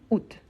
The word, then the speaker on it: août: une question d'accent donc il y a certains qui disent out AOT et d'autres qui disent à la région d'Alsace en France on dit à ici dans ma région on dit août donc c'est une question d'accent mais tous les deux sont correctes la même chose avec